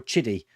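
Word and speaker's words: QIDI: Or Chiddy. People saying it's pronounced Chiddy. I've never heard of a QI pronounced Ch. So kiddie is the way I say it.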